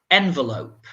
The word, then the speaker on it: envelope: And you notice again, you see that in English, we don't always pronounce all of the letters. So for example, the second one is env. It's a kind of env, envelope sound.